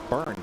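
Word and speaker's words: Byrne: Burn, sorry, it's Burns on our scoring. Yeah, it's singular burn. And it's spelled like David Burn of the talking head. B Y R N E.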